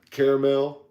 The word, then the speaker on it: caramel: Caramel. How is it spelled? C-A-R-M-E-L, right? No, it's C-A-R-A-M-E-L. It's caramel is how it's spelled. Then that's what it is. The A just don't go silent. Caramel.